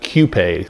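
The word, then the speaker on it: Qupé: Poppy and it's pronounced Q pay I added the accent over the e and gave it my own pronunciation the Chumash pronunciation sounded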